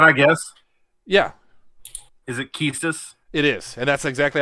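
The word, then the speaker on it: Quistis: hang on can I guess yeah is it kiestus it is and that's exactly how I pronounced it was kiestus yeah I think that's correct okay yep yeah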